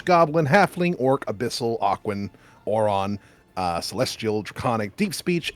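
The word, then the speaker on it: Auran: Elvish giant gnomish Goblin halfling orc Abyssal Aquin oron uh Celestial draconic deep speech ignan infernal primordial Sven tan and undercommon are all choices I'm sorry what's one of those I heard too yeah oron it's like I'm sorry I don't speak [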